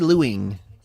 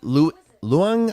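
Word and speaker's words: Leung: staged uh played by uh Katie lewing uh or luang I think I'd say I think that's how you pronounce it I can't remember okay good okay I'm glad I got that right so of course she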